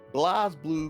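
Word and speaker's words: BlazBlue: gonna be back with Blaze Blue cross tag battler, Blaze Blue, however you like to say it. I always like Blaze. There's no E there. It's not the correct pronunciation.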